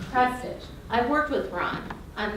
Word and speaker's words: Prestage: that Mr prge and that's how you say his name it's prge not prig not any other way it's prage I've worked with Ron